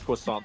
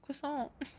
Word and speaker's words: croissant: Every time someone says says quissant though, it just makes me think of the cartoon Star in the Forces of Evil.